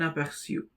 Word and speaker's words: aperçu: The pronunciation is siu, un aperçu.